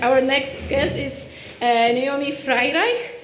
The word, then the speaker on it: Freireich: next guest is Naomi Freireich, and yes, that's how you say it. Frei as in French fry, and Reich as in Reich.